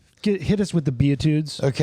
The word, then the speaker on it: Beatitudes: Oh, the be Oh, the butitudes. Oh, okay. How do you say it? Beatitudes. Oh, I read his butitudes.